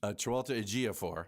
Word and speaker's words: Chiwetel Ejiofor: And Tilda Swinton and that actor whose name only you can pronounce. Chiwetel Ejiofor.